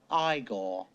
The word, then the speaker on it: Igor: like that Dr Franken Stein you must be eigor now it's pronounced igore Walk This Way okay this way funny thing